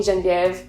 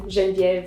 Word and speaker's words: Genevieve: that if you want to call me whatever i'm i'm really not fussy about my name but that is the correct pronunciation of my name genvier i am 25